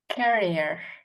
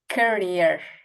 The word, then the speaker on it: career: emphasis on this and for this word we put emphasis on the first this first syllable okay so this is carrier carrier and this is Carrier okay and again this is carrier and this is career career career career yes